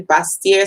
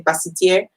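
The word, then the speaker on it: Basseterre: or basiteer so um those are the two pronunciations people use they use some people say bastier some people say pass it here where in the caribbean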